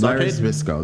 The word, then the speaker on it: Zbyszko: I cannot pronounce his last name. I never could. You see? Larry Zbyszko? Larry Zbyszko.